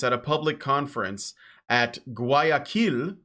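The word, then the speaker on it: Guayaquil: a public conference at GUI Aquila which is actually how you pronounce it because yes Ecuador has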